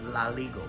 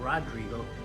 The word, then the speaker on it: Rodrigo: He used to call me Laligo because they don't pronounce the R. Koreans don't pronounce the R. So instead of saying Rodrigo, he would say Laligo.